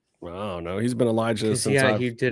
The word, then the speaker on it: Elijah: Say it right. Elijah. Jah. Not Eli ass. We don't know an Eli ass. That's an Eli jah.